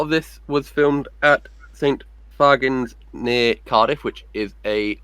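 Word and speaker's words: St Fagans: at a bus stop in Cardiff because I mispronounced it. I called it St. Fagans, and this woman just went, "It's St. Fagans!"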